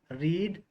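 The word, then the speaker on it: read: रीड रेड रेड, पढ़ना।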